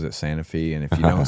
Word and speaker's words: Santa Fe: It's Santa Fe, but everyone there pronounces it Santa Fe.